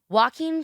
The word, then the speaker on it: Joaquin: Joaquin Phoenix. Why does it sound like Walking Phoenix?